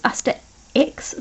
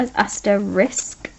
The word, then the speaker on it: asterisk: to spell that now everyone thinks is a stirrer X but it's not as I stare risk like oh that was